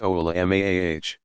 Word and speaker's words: ulama: An alim, pronounced a'lim, commonly used singular of ulama, pronounced oula-maah, is an individual who has done extensive study of the Quran, tafsir, exegetical commentary, and hadith, for starters.